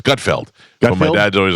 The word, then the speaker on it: Gutfeld: And he calls him Gutfield like you do. It's Gutfeld.